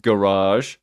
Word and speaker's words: garage: Also, one minor correction: it's pronounced garage, UK garage.